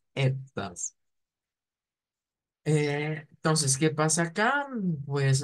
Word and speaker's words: etwas: Es nada más como decir etwas, pero con esa E abierta, etwas.